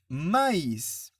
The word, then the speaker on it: maïs: Exemple, je dis maïs. Pourquoi? Parce que le tréma m'indique que je dois prononcer le i. Mais, alors, je vois M-A-I-S, je prononce mais. Je ne prononce pas les i parce qu'il n'y a pas de tréma.